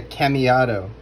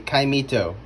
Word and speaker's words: caimito: called a star apple, but it's also called a caimito. And I was pronouncing it incorrectly at first, calling it a cameado. It is a caimito, otherwise known as a star apple.